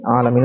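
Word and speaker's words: عالمين: 73 বার তারপরে দেখবো আলামিন আলামিন শব্দটি হচ্ছে আলামিন উচ্চারণ আলামিন অর্থ হচ্ছে মহাবিশ্ব অর্থাৎ আলামিন আলামিনের বহুবচন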